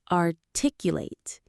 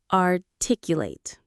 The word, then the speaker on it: articulate: The stress is on that tic syllable. Articulate. Let's say it together. Articulate.